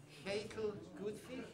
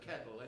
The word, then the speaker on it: Ketil Gutvik: Okay, for the final set this evening, my Norwegian pronunciation is absolutely awful. It's something like Ketil Gutvik is maybe more like, but Ketil anyway.